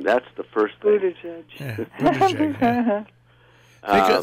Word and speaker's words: Buttigieg: Buttigieg. Yeah. Think of boot, ah, and JPEG.